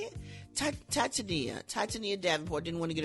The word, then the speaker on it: Titania: According to Rolling Stone, Takeoff's mom, Tanisha Davenport, how do you say it? Titania Davenport, didn't want to get her name wrong, says the venue provided no screening methods after hours security control.